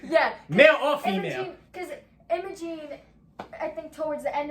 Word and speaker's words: Imogene: one emoji emoji emoji emojin yeah i couldn't pronounce it i know it's emerald gene or emoji imogene okay yeah that sounds right imogene it's i-m-o-g-e-n-e yeah energy imaging yeah so it's